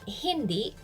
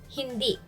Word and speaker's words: hindi: Be careful with the stress. It's not hindi. It should be hindi. Stress on the second syllable.